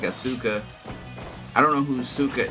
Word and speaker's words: Asuka: Like the U is silent. It's just Asuka.